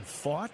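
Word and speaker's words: Pfaadt: Is it fought? Yes, that's how he pronounces it. As in, he fought the law and the law won.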